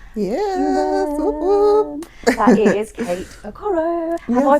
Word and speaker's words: Okoro: Yeah, that is Kate Aoro. Have I pronounced that correctly?